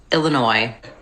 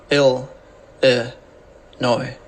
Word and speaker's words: Illinois: video we'll look at how to pronounce Chicago and Illinois ill noi Illinois shout out to the